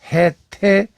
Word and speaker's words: 해태: 현상이 발생을 했던 겁니다 따라서 해치로 쓰지만 당나라 이전 발음은 해태 있던 거고 이 발음이 그대로 전해져 내려온 것이므로 그간에 우리가 사용해 왔던 해태가 결코 잘못된 발음이 아니었다는 얘기예요 따라서 기전에 그 통명